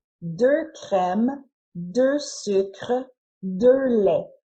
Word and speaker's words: crèmes: But even though we added an S to make the noun plural, the pronunciation of these nouns doesn't change from the singular form to the plural form.